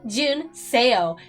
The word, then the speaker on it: Jun-seo: my God this teacher it's not a hard name it's called June SEO it's called Min sale girl I was saying their